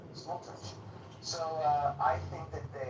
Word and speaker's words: Smotrich: I think that Vanderveer and Smotrich are fed up with the Palestinian situation, rightfully so.